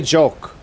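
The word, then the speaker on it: jook: I just say joke. Joke is the way I pronounce it.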